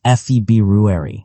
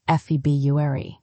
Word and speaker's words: February: The correct way is feb rueri. February, but honestly, many native speakers say febuary.